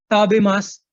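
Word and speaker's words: 食べます: बताना चाहता हूं कि आप एंड में अगर सु लगा होता है किसी वर्ड में तो आप उसको सु नहीं बोलते, आप उसको सिर्फ सा बोलते हैं। ये प्रोनाउंसिएशन जापानीज की ऐसी होती है। आप इसको ताबे मासु नहीं बोलेंगे, आप इसको बोलेंगे ताबे मास।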